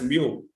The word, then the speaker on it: mu: so this is the formula tal xar minus mu it's pronounced as Mu this this this one is pronounced as Mu